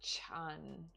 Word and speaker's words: Chan: the transmitter of Zen to China which is pronounced Chan uh it says little contemporary biographical information on